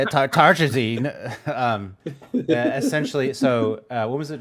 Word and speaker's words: tartrazine: that yellow 5 or tartarzine Sound it out. tartrazine There you go.